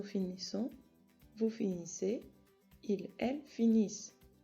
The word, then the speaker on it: finissent: Nous finissons, vous finissez, il, elle finissent. Cuidado que tiene doble S. La ENT del final tampoco se pronuncia.